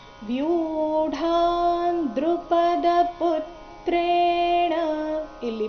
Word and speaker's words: ವ್ಯೂಢಾ: ಚಮುಂ ಬ್ಯೂಡಾ ದ್ರುಪದ ಪುತ್ರ ವ್ಯೂಢಾ ಇಲ್ಲಿ ವ್ಯೂ ದೀರ್ಘ ಆಮೇಲೆ ಡ ಚೆನ್ನಾಗಿ ಕೇಳಿಸಬೇಕು ವ್ಯೂಢಾ ದ್ರುಪದ ಪುತ್ರೇಣ ಇಲ್ಲಿ ಪೂ